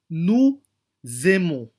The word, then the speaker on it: nous aimons: Kaya rin po dito, nous aimons. Okay po? Nous aimons. Yan po ay magiging zay pag ipopronounce po natin.